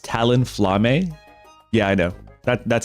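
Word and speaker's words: Talonflame: or the other or if not both it's pronounced Talon flame yeah I know that that's exactly how I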